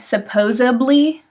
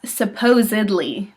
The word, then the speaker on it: supposedly: is supposedly i think ninety percent of the people i know say supposably but it's supposedly there's a d not a bee and it's just not